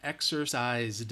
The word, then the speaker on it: exercised: right hopefully remember exercise even though it's spelled with an S it's the Z sound that it's voiced so because of that exercise you should have said D D is the answer all right exercised all